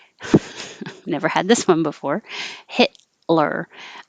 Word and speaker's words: Hitler: had this one before hitler the t and the l are made in the same place so you don't release the t hit you hold it hit lure and then